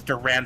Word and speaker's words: Durand: His name is Durand, like the sword.